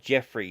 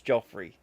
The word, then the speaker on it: Joffrey: So I thought the main asshole on that was called Jeffrey until the TV series come out. And it's Joffrey.